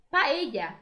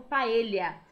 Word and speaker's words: paella: Paella também não há tradução. Algumas pessoas costumam pronunciar como paella, tá? Mas é uma comida amplamente conhecida como típica espanhola e o nome não mudou. Paella, repitam comigo, paella.